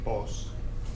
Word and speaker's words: vos: tú, but of course they say vos, the B sound instead of a V.